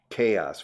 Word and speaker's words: chaos: Chaos, fijaos. ¿Y cómo se pronuncia? Caos. Caótico, chaos, como la letra K, chaos, chaos, y el adjetivo chaotic, chaos.